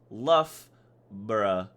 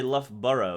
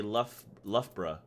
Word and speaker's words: Loughborough: he's more right than the actual way to pronounce luff bruh you don't even say left burro you say lovebra luga baruga content bro